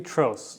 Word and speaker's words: Troost: Now, one thing I want to bring up here is that it looks like it's spelled Troost, but it's actually Trost. It is actually Trost.